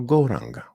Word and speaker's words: Gauranga: Mantra, której użyjemy, to Gauranga. We'll divide it into 4 syllables, Gauranga.